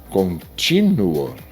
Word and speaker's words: contínuo: Porque, se você diz contínuo ou é continuo, veja só, aqui como você pronuncia contínuo ou continuo. Aqui é o continuo e embaixo é o contínuo.